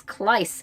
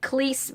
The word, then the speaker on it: Kleiss: introducing herself and it's Kleiss I've been saying cleese but it's Kleiss which makes sense because